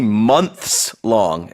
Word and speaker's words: months-long: So when you see months long, and you have to, pronunciation it's going to be hearing month long, months long. Very, very slight different pronunciation. It's the S.